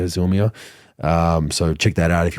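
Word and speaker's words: Zillmere: Zilmere? Is that how you pronounce it? Yeah, Zilmere.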